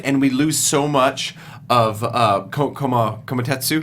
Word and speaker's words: Kumatetsu: point, and we lose so much Kumatetsu. Kumatetsu, Thank yeah.